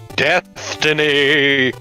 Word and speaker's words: Deathtiny: Deathtiny! I know you want to spell it Destiny, but it's Deathtiny!